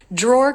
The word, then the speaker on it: drawer: dra a junk drawer drawer can be a challenging word because again it has two R sounds dra draw so it has the a as in law vowel which when it's followed by R draw draw is not as open the lips are more rounded and the tongue is may be pulled a little further back now I bet if